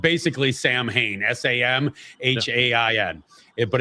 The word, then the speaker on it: Samhain: It's actually spelled basically Samhain, s a m h a i n. It but it's pronounced Samhain.